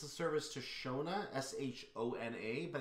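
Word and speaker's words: Schöna: the um it says it's a service to shona s-h-o-n-a but it's actually spelled differently o n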